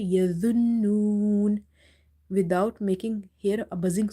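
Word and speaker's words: يظنون: be extra careful, because if you say yazunnun, it will be wrong, because this the will be replaced with the other za, and if we do this, then it will be lahne jali, which change the meaning of Quranic words.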